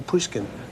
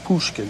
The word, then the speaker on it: Pushkin: ever hear of Alexander puskin they didn't understand what he was saying at first because they pronounced it Pushkin you know finally they